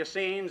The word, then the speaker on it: assignats: My understanding is that these notes, the assignats or the assignes as some pronounce them, were issued against church-confiscated land.